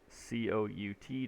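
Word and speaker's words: cout: your code in here what do you think c-o-u-t does uh well let's see it it's pronounced c out this is pronounced end line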